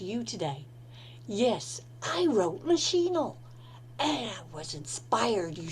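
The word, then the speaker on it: Machine: century play about every woman it is entitled machinal now that's how I'll be pronouncing it spelled m a c h i n a l uh some playwrights or some authors call it maol but I like machinal and this is by playwright Sophie Treadwell and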